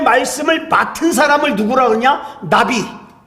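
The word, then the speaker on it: נביא: 맡은 사람을 누구라 그러냐 나비 우리이 나비이이 발음이 똑같아요이 나비라고 하는데이 나비를 갖다가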